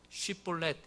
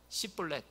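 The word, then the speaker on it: 쉽볼렛: 같아요 그래서 한 명 한 명에게 쉬폴렛 해 봐 그래요 그랬는데 다른 사람들은 쉬폴레에 타는데 에브라임 사람들은이 발음이 안 되는 거예요 씨플렛 이렇게 한 거예요 그러니까 일로 나와 그래서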